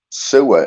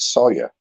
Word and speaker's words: Sawyer: Sewer is not your second name, mate. Is it Sawyer? No, it's spelled S-A-W-Y-E-R. It's not spelled S-E-W-E-R, is it, guys?